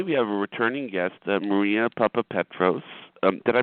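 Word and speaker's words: Maria Papapetros: happiness uh today we have a returning guest Maria Papa Petros um did I pronounce that correctly ma'am yes uh like a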